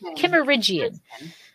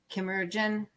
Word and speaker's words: Kimmeridgian: In the Kimmeridgian. Kimmeridgian.